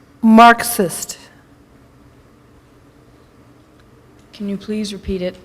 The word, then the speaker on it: Marxist: theory of God government am I saying it correctly Marist that is not correct Marxist can you please repeat